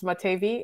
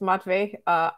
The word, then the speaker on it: Matvey: I keep mispronouncing him as Crystal, just like yours is Matevi. It's Matvey. It's Cristal. I keep yelling at myself.